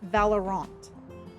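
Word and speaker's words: Valorant: Valer I'm sorry I pronounced it wrong. It's Valerant.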